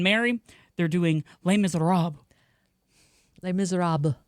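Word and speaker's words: Les Misérables: Les Miserables. Yeah, the S is silent.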